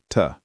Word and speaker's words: to: To becomes tuh.